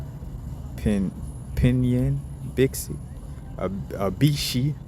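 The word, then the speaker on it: 赑屃: So Bixie, Pinyin, Bixie, a Bishi, because XI is like chi in essence when you pronounce it with from the Japanese or Chinese way of expressing it.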